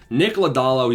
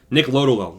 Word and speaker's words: Lodolo: Nick Lodolo, he's priced as +1.